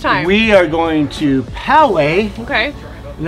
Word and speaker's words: Poway: we are going to Poway okay and that's how you pronounce it if you're Australian its PO way I'm not gonna lie